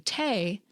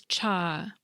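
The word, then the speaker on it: 茶: The way people pronounced this character varied by dialect, with the Southern Min variety saying “té” while the Mandarin and Cantonese pronunciation was “cha.”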